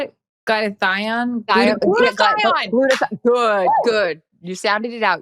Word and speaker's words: glutathione: Glutathione.